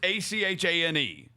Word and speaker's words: Achane: We literally have an Etienne comp in the NFL to know how Etienne is spelled. A running back too. Devon Etienne, and it's Achane.